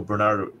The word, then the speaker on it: Bernard: important part that Saint Bernardo Cuervo is trying to draw after us yeah uh it's Bernard I think that's how they pronounce it Bernard Bernard Bernard of clairvo